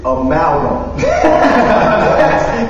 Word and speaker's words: Amalgam: I'm basically, let me make sure I pronounce his name right because the dude got on me today about it. You know what I'm saying? It is Amalgam.